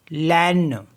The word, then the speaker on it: laine: Next word है हमारे पास LAINE, लैन, लैन miss होता है वूल।